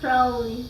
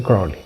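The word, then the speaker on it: Crowley: Creo que es Cowly. Cra. Crawly. Gracias. Alister. Alister, no, Alister. Crawly.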